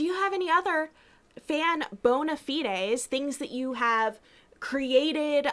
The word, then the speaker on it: bona fides: to say it uh because it's like anglicized versus like latin or whatever like yeah both are fine yeah like uh but do you have any other fan bona fides things that you have